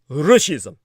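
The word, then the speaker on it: ruscism: invasion of ukraine now russia's is pronounced like the word fascism with an r instead of an f as the starting consonant it roughly translates to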